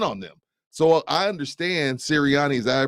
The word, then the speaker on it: Sirianni: just can't run on them so I understand Sirianni is that I pronounce it yep so I understand siriani this is one of those things you come